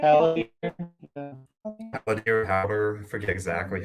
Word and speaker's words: Haldir: And Howder is the elf in the corner here. Mm-hmm. I think I probably butchered the way you're supposed to say that. I think you did. Haldir, Howder, I forget exactly how, but pun intended.